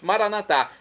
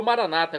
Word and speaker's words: Maranatá: E agora eu clamo do aramaico, dialeto de Jesus, Maranatá, como dizemos nóss católicos, ou maranata, como dizem nossos irmãos, separados, os evangélicos ou protestantes. Não importa a pronúncia, o significado é o mesmo.